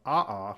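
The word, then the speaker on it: aʻa: And of the two types of lava, A'a, which is spelled A''A, is the rougher, more sharp-like lava.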